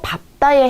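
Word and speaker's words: 밟다: 원래 리을 비읍은요. 리을이 보통 남는 게 대표음으로 남는 게 맞지만 예외적인 경우가 있습니다. 그게 바로 밥다에 해당이 되는데요.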